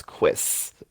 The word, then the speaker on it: cuisse: That's quiz. Quiz! That's what pronunciation guides Hey, say.